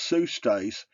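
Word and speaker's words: ψεύστης: The Strong's Exhaustive Concordance definition for Greek Strong's number 5583, sustes, pronounced sustes, means a falsifier.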